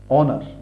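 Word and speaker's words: honor: অনার, অনার, অনার অর্থাৎ সম্মান, এখানেও এইচ সাইলেন্ট, এইচের কোনো উচ্চারণ এখানে নেই, এখানেও এইচের কোনো উচ্চারণ নেই, কিন্তু যখন আমরা বানানটা লিখি তখন কিন্তু আমাদের এইচটা লিখতে হয়।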